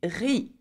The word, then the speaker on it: riz: Though it has a Z at the end, we do not pronounce the Z at the end. We pronounce it R-I, so riz, okay?